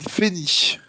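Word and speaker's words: Fehnih: Les sacrificateurs ont une drôle d'écriture souvent, mais c'est Dame Fénie. Dame Fénie. Ah, ça s'écrit PH.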